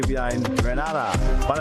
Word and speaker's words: Grenada: are in Grenada but I heard in English it's called Greneda. Say it right. Grenada. Say it right. Grenada. That's right. Grenada. There we go. Say it right. It's Grenada. It's not Grenada. It's Grenada.